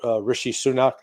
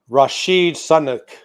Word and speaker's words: Rishi Sunak: And by the way, did you hear what Biden said today about Rishi Sunak? No, what? He called him Rashid Sunak. I mean, he Oh God, completely butchered the name.